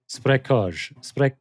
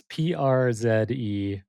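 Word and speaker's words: Przekrój: I think it's something like Sprekhoj. Sounds very, It's very convincing. there's a lot of consonants. Przekroj.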